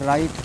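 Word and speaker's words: write: है रंग पढ़ा जाएगा लिखते हैं डब्लू आर आई टी पढ़ते हैं राइट क्यों डब्लू साइलेंट है रैप लिखते हैं रैप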